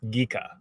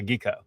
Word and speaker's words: Ghica: Um, so yeah, my last name is pronounced Ghica, like geek. Ah, I don't know how to say. I don't know how to explain that, but that's yeah, Ghica.